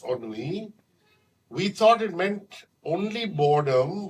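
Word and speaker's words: ennui: spelled e n n n UI but it's pronounced on we thought it meant only boredom but Dr arishi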